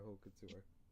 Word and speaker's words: haute couture: So the H you wouldn't pronounce. So it's haute couture.